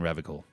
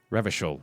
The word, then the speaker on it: Revachol: There aren't any cops in Revical. Not in the traditional sense. Revachol, I think is how you say that. I keep misspelling it or missaying it.